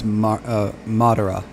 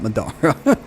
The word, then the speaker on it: Madara: It's Madara, not Madara.